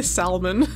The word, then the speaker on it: salmon: salmon like I say salmon yeah I guess I mean do you pronounce the L and salmon chat fight I say